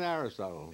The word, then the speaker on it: Aristotle: Old man Aristotle. It's more my problem than yours. Rhymes with bottle.